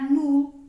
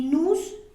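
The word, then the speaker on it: nous: del plural que sería nu y Vu tenemos que acordarnos de que Esas últimas eses no se van a pronunciar O sea no vamos a decir ni nus ni bus con la excepción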